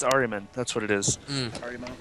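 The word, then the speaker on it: Ahriman: It's Ariman.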